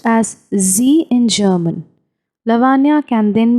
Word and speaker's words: sie: She is called sie, pronounced as sie in German.